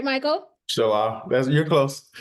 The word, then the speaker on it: Chilau: Chilau. You're close. Chilau.